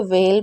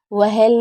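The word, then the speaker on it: whale: Cake, वेल, मैंने बताया ना डब्ल्यू एच के बाद ए होगा तो भी हमारा एच साइलेंट रहेगा, तो यहाँ पर ए है तो हम इसे वेल पढ़ेंगे, वहेल नहीं पढ़ेंगे।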